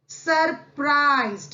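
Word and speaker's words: surprised: सरप्राइज्ड, यहां पर भी यू का साउंड अ का है, सरप्राइज्ड हैरत में पड़ जाना।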